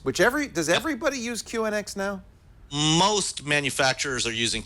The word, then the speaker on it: QNX: used it for years is it cix or Q andx am I saying it right I've heard it both ways I'm not really sure um when I've talked to people from Q andx they that's they call it Q andx yeah I've never heard